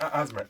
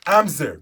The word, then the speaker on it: Amzer: Oh, no, it's not Asthma. Amzer. Goodness, I was pronouncing it wrong.